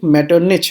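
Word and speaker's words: Metternich: तो आपको प्रोनाउंसिएशन को भी ध्यान देना होगा, ये ड्यूक मेटरनिच है। कहीं पे सी एच को का पढ़ते हैं, कहीं पे सी एच को चा पढ़ते हैं, तो यहाँ पे ये चा पढ़ा जाएगा।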